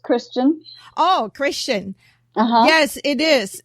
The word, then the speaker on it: Christian: to welcome Christensen to our podcast welcome thank you actually my last name is just Christian oh Christian yes it